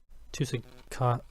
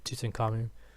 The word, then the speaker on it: Tutankhamun: Action Force, Riddle of the Sphinx, Tutankhamun. That's how it's pronounced. Unless you wanted to say Tutankhamun.